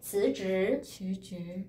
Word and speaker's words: 辞职: 好, 그 다음에 辞职辞 할 때 혀 사이에 넣어주세요. 조금 辞职 할 때 혀 일어나세요. 辞职 두 개 글자 다 발라 나와요.